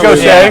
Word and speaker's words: Gautier: wants No, to that's be is it really Gaucher?